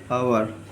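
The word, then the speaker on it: hour: Silent H sound sound like आवर एच आवर से start हो रहा है।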